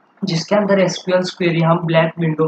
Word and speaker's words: SQL: अंतर्गत के डेटा का ओके तो इट is pronounced as एसक्यूएल और समटाइ्स सीक्यूएल मतलब एसक्यूएल को आप सीक्यूएल भी कहा बोल